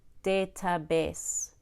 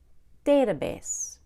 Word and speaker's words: database: credit-card bookmark football database notice I did not say database I said database database try having your